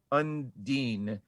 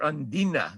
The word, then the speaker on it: Undine: streaming on apple tv undine or undina if you're gonna pronounce it like uh the diver does uh okay uh oslo